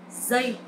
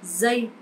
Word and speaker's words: giây: This sound is not like J or G sound in English, but is similar with Z sound. Giây, Z. So you try and practice giây.